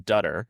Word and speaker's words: Dutter: I'm I'm Dutter. It's like butter with a D, I always say.